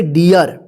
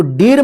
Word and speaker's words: dear: देखिए लास्ट में आर है तो इस तरह से भी आपको मिलेंगे, जैसे डियर, डी ए आर, इसको डीर मत पढ़िएगा, इसको ईर मत पढ़िएगा, ध्यान रखिएगा।